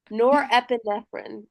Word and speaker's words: norepinephrine: That's a 5 syllable word. norepinephrine.